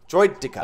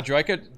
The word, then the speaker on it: Droideka: Droidika. A Droidka? Droidika. A Droidtika. Droideka.